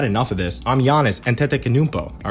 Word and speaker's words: Antetokounmpo: I usually say Antetokounmpo, but Antetokounmpo is his real name.